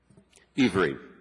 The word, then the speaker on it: Iwry: II, did I pronounce your name correctly? Ivery. Ivery, excuse me, I I knew that but mispronounced it.